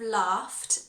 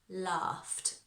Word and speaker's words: laughed: And be careful with that pronunciation of laughed because it's nothing like the spelling. Laughed.